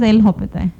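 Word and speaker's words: L'Hôpital: Hopi rule is hospital we don't call actually L Hopi pronunciation is L Hopi we write hospital but we call Hopi okay L Hopi rule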